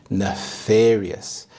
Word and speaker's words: nefarious: Next, we have nefarious. Nefarious. The stress is on the second syllable, nefarious.